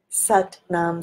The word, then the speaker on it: Sat Nam: I'm just pronouncing the T in Sat. So my tongue hits the upper palate of my mouth and creates a beautiful vibration.